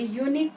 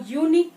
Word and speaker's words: unique: Dennis is a simple man with a unique point of view. I have told why it will be a before unique, a before uniform. Why? Because we pronounce it U, which is a consonant sound.